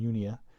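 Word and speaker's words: Junia: hello to andronicus and yunia you may want to pronounce that j like a j and so the y sound the greek has the y sound unia my relatives and fellow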